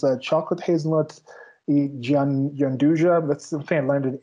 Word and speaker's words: gianduja: So gianduja is actually an Italian name.